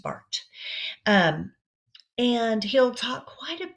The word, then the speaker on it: Barth: It's spelled Barth, but it's pronounced Barth.